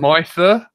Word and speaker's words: mither: MITHER. Apparently it's a verb. Never heard of it. Mither?